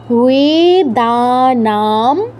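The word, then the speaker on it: বেদানাং: বেদানাম সাম বেদস্মি দেবানামস্মিহ এখানে অনেক দীর্ঘস্বর আছে অনেক টেনে টেনে বলতে হবে বেদানাম সাম বেদস্মি দেওয়ামি ওয়াসবহ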